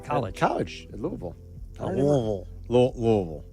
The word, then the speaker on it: Louisville: Louisville. You got to say it like you're from down there a little.